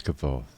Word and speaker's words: Kvothe: My name is kvothe, pronounced nearly the same as quote.